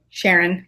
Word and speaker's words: Charron: All right, and Charron. Sharon. It's all good. Charron? Like People say Sharon? it the French way. I just prefer it Sharon, like more.